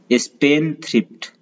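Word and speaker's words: spendthrift: दूसरा है स्पेंडथ्रिफ्ट, स्पेंडथ्रिफ्ट यहाँ पे देखिए लिखा है स्पेंड एंड देन थ्रिफ्ट, लेकिन इसमें डी साइलेंट होता है, तो पढ़ते हम इसे स्पेंडथ्रिफ्ट, इसलिए ऊपर लिखा है स्पेंडथ्रिफ्ट।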